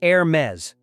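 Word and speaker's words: Hermès: Number three is Hermes, pronounced Hermes.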